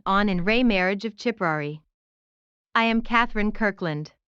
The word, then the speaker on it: Ciprari: in rey marriage of chiprary i am katherine kirkland if you are hearing a ch sound at the beginning of the pronunciation of chipperary that is the correct